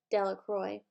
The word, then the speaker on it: Delacroix: and Harry Jones and Dicky Delacroix the villagers pronounced his name Delacroix eventually made a great pile of stones in